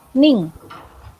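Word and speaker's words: にん: Nah, untuk penyebutan orang itu tinggal ditambah nin, tapi dibacanya ning.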